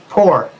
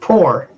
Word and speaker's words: pour: Starts with a P. Poor. And when you're going to fill up a cup from another thing, you pour. No, it's not the same pronunciation, dude.